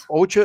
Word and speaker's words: ocha: i like a lot ocha is green tea and that's how you say it in japanese so my japanese green tea ocha see you learned a